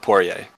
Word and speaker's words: Poirier: It's Poirier. French, but you can pronounce it Poirier.